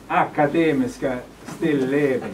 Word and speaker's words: Akademiska Stilleben: bye we're coming and uh um it's pronounced academy still living by the way just to just let you